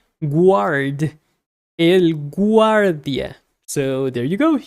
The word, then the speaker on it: guardia: So guardia sounds like guard if you actually pronounce the U. Guardia. So there you go. You have to pronounce the U in Spanish.